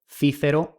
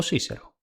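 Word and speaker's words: Cicero: Y el del más famoso orador Quiquero, Cícero o Cícero.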